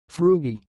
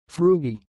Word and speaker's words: Frugie: the word you see it sounds like fruity fruity I will repeat more slowly frugi frugi that's all thanks for